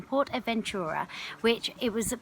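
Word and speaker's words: PortAventura: Port Adventurer Adventura I keep saying it wrong Port Adventura which it was it's basically this incredible theme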